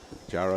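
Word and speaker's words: Diagne: And she broke it on down to me, Charles, and said that D-I makes the J sound. All right. Yeah, we had a first intro to Jara a couple of games ago.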